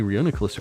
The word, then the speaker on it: Reuniclus: know got a shiny Reuniclus earlier Reuniclus am I saying that right Reuniclus Reuniclus like reunite nice I'm sorry I'm